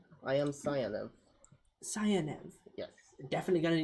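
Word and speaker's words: Sayanev: about you what is your name I am cev cev yes definitely going to need you to spell that one uh s a y a n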